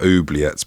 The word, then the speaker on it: oubliette: We've definitely talked about oubliettes before, because I didn't know how you said it. I think it's oubliette, with the stress on the final syllable.